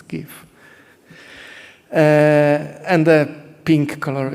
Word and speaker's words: GIF: files actually give files the prono proper pronunciation is gif uh and the pink